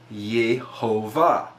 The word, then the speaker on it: Jehovah: Yoda hey wall hey however you will see the dots around the letter and you get the pronunciation of yehova as it appears here now within what is